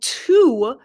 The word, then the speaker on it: to: very quickly and while two is the correct pronunciation in slow English many native speakers when they are speaking quickly will make it sound more like T the letter T sound you do not need